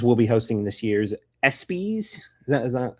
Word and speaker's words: ESPYs: Uh but Marcello Hernandez will be hosting this year's ESPYs. Is that Is that how it's pronounced?